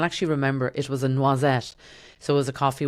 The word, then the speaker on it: noisette: I just was like, oh, noisette rhymes with croisette.